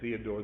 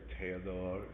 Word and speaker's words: Théodore: The French artists, we always say Theodore, they say Théodore.